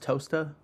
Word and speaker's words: Towcester: Is it like Towcester is pronounced toaster or something like that?